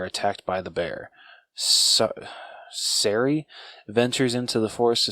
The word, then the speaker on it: Sari: it's did they pronounce how to say it s-a-r-i sorry yeah like I'm gonna say sarri sarri okay so Didi lives